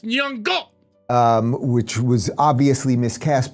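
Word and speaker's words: Nyong'o: And then Lepita Nyongo was in it. You're saying her name wrong. It's Nyongo.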